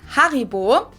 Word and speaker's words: Haribo: like I've called it Harbo before. I'm probably Harbo. Harbo. Haribo and gold bar. Hopefully maybe not everyone knew that Haribo is actually German. We pronounce it Haribo.